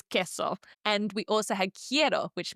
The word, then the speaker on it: queso: Now we know in these combinations our favorite word cheese for example queso we do not pronounce as queso. No, it is queso.